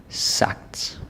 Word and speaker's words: sagt: Så sagt, magt, smagt. Sagt, magt, smagt. Alright. Yeah, so it's act sound. It's a hard G in this case.